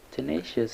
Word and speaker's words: tenacious: Tenacious has three syllables, and we have t with a schwa sound, nay, like in cake, and shus. Tenacious. The stress is on the second syllable, nay, tenacious.